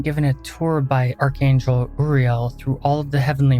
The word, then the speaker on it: Uriel: and Science and yes I know that he's pronounced Uriel but I was taught for real and I'm just want